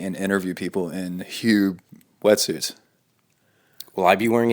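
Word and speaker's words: Huub: Hube? Hube. Oh, I thought it was like Hoob. Yeah, Hube.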